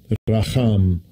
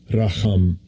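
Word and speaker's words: רָחָם: We know, according to the Strong Concordance, when we look at this word for eagle, I will play how it's pronounced. Strong's H7360, Racham, Racham.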